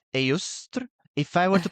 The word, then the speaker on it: Eostre: But so I would pronounce it as Iostre or Eostre.